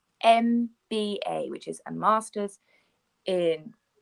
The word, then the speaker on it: MBA: We pronounce it with a vowel sound. So, for example, some of you will know, many of you will know the qualification that you can get called MBA, which is a Master's